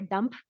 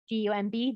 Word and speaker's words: dumb: When he was first learning English, he would often say people were dump, D-U-M-B, dump. And I would have to tell him, no, we say it dumb.